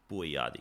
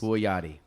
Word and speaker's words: Bouayadi: Bouayadi, yes. Bouayadi. Yep. All right, we're not going to judge my pronunciation skills.